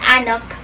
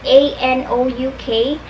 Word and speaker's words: Anouk: So, Grim Lovelies is about our main character, Anouk. That's how I pronounce her name, A-N-O-U-K.